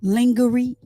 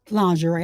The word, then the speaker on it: lingerie: He liked me in lingorie lingerie.